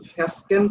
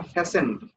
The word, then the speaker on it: fastened: রিজিডলি, এটা কিন্তু এর উচ্চারণ কিন্তু ফ্যাস্টেন্ড হবে না, ফ্যাসেন্ড। এখানে টি এর উচ্চারণটা উচ্চ থাকে আর কি, ফ্যাসেন্ড।